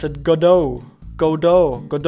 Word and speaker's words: Godot: and he pronounced a goat on the developers pronounce it go dutch woo sit correctly i've seen some people pronounce it god oh godö good o with a silent e in